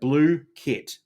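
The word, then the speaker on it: Blooket: Okay, so that's I love how they've got the um pronunciation there. So, blue kit.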